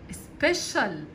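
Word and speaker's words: special: خاصه فبقول عليها استنى السي والاي والي الثلات حروف دول لما بيتكتب ورا بعض كده بيتنطق بصوت حرف الشين سبيشال سبيشال سيشال مميز او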